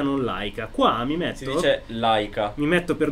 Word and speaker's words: Leica: del professore in tedesco, perché in tedesco il dittongo EI si legge AI, quindi è Laika se lo si vuole dire alla tedesca, se no lo si dice all'italiana ed è Leica.